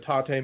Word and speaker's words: tate: And rotate? It's the second half of the word rotate.